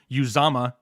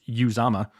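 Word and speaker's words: Uzomah: maybe not have the touchdown upside because cj uzama is the correct way to say it i watched a video on how to pronounce it correctly that he put out uh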